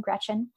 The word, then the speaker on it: Greczyn: It's Polish, but it's really easy to pronounce. It's just like the girl's first name, Greczyn.